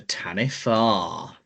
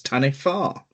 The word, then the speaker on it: Taniwha: marau legend called the Tanifa. Not Tani. Well, it's it's spelled Tani, but according to what I found, it's pronunciated as Tanifa, which sounds very Welsh.